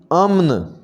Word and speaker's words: امن: گے بلند، بلندی۔ امن، اس کی صحیح ادائیگی ہوگی امن، امن۔ باکر، اس کا صحیح